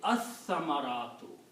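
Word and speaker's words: الثمرات: Also, tha is a shamsi letter, so it will kill the sound of lam, and the pronunciation will be as-samaratu. You don't pronounce lam because sa takes over the sound of lam in the tajweed.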